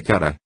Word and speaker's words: Kara: Fiquei sabendo que seu nome imortal é Kara, com ênfase na última sílaba.